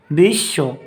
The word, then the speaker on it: বিশ্ব: দুইবার উচ্চারিত হয় যেমন বিশ্ব এখানে বফলা থাকার কারণে আমরা দুইবার উচ্চারণ করব বিশ্ব তারপর বিধান এখানে আমরা